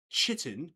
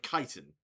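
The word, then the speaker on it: chitin: The one thing that pisses me off is when people say chitten instead of kiten. They say what? Sorry. chit in like ch hi t like it is it's spelled out chittin but we are from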